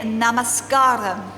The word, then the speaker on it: namaskaram: hopefully because cross correctly i am saying namaskaram namaskaram can you say it namaskaram okay and that is how you say hello in malayalam and hopefully at the